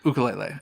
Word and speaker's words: ukulele: They teach you ukulele.